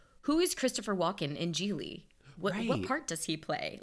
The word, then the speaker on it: Gigli: So that was sort of how I tried to make sense of Gigli, which rhymes with really, by the way.